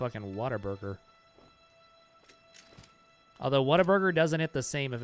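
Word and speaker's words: Whataburger: I said what a burger, not water burger. I pronounce it the way it's spelled.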